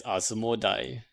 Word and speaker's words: Asmodai: It's not Asmodee, it's Asmodai.